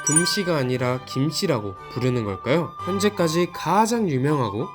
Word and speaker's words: 김: 한자의 발음이 김이 아니라 금이라는 점인데요. 몇몇 학자들의 견해에 따르면 실제 삼국시대나 고려시대까지만 해도 이 성씨를 김씨가 아닌 금씨로 발음했을 것이라고 합니다.